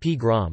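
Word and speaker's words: погром: First recorded in 1882, the Russian word pogrom, pogrom pronounced pgrom, is derived from the common prefix po and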